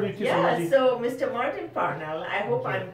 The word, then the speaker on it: Martin Parnell: Martin Parnell, I hope I'm pronouncing your name yes, right.